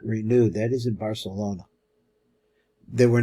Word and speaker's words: Barcelona: He's pointing straight to Barcelona, pronounced Barcelona, because Fernando had a lisp. Everybody started copying his list in certain areas. That is, in the northern areas, especially in Catalonia, and it spread all throughout Spain.